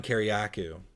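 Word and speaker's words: Kiriakou: I always say his name wrong. Kariakou, I think is how you say it. Kariakou. Yes, John Kariakou.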